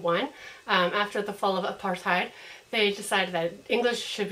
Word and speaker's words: apartheid: During Apartheid, I hope I'm saying that right.